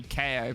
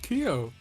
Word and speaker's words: Kyo: me to say um i assume keo is named after the samurai so it should be ko but what do i know oh i i mean i'm alright it's pronounced keo what mda is asian